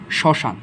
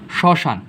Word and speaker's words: শ্মশান: এখানে আমরা দেখতে পাচ্ছি শ্মশান। আচ্ছা, মফলা প্রথমে থাকলে কি উচ্চারিত হয় না, শ্মশান। শ্মশান যখন আমরা উচ্চারণ করি